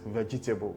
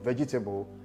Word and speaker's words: vegetable: Likewise, the E in vegetable, leading to realizing or articulating that word as vegetable.